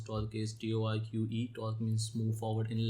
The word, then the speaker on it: TOR.C.C: How we pronounce Torque is Torque.